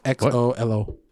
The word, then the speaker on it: Xolo: It's Xolo. His name is Xolo.